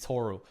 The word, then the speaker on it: Toru: His name is not Tori. His name is Toru.